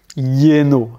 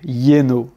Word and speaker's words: lleno: Le double L, lui, il va se prononcer un peu comme un Y, c'est un espèce de Y. Cahier, cahier, rue, lleno, lleno, plein, llover, llover, pleuvoir,